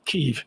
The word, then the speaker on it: Kyiv: Kyiv. And he, in fact, didn't do it at all. He didn't win. Pronounced Kiev.